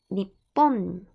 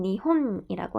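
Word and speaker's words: 日本: 자, 그래서 니찌 다음에 혼이 위치하니까 니찌혼 하면 발음이 힘들잖아요. 그래서 니폰. 자, 그런데 보통은 니혼이라고 한다.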